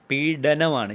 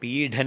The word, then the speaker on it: പീഡനം: ഠ ട ഠ ന ചില ആളുകൾ ഈ വാക്കുകൾ ഉച്ചരിക്കുമ്പോൾ ഇതേപോലെ തന്നെ പീഡനം എന്നൊക്കെ നമ്മൾ പറയുന്നതിന് പീഡനമാണ് ശരിക്കും അത് കുറച്ച് കട്ടികൂട്ടി വെയിറ്റ് ഇരുന്നോട്ടെ എന്ന് വിചാരിച്ചിട്ട് പീഠനം എന്ന് പറയും. ആ ഉച്ചാരണത്തില അത് അവസാനത്തെ ഡ ആയിരുന്നു. ഡ പക്ഷേ യഥാർത്ഥത്തിൽ പീഡനം എന്ന് പറയുന്നത് മൂന്നാമത്തെ ആ ഡ എന്ന് പറയുന്ന ഇടത്താ വരുന്നത്.